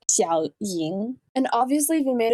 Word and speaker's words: Xiao Ying: I swear, this channel just has such a hard time with the X sound. It's Xiao Ying.